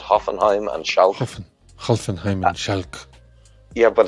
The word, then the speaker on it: Schalke: For some reason, I keep wanting to be calling Hoffenheim because you said Hoffenheim and Schalke. Hoffenheim and Schalke. Yeah, but it's not Schalke, it's Schalke.